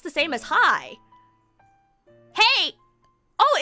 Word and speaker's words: hej: Is Hedge German? I believe it's Swedish. I say Hedge because it's the IKEA word, right? It's pronounced the same as hi. Hey!